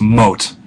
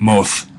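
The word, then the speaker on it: מות: So it's always moth, however you want to do the T there. Remember, you could do the Israeli pronunciation, mot, or this hypothetical ancient Israelite, moth.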